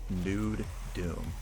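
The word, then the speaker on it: NuDoom: bed for mods and N Doom pronounced by the way nude Doom it it's published by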